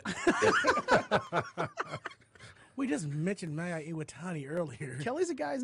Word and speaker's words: Iwatani: It's Awatani. The champion. You can say Mayu champion. Iwatani.